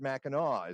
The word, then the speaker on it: Mackinac: my misspent youth it's spelled mechanic but you pronounce it Mackinac is that right well it's Mackinac with aw4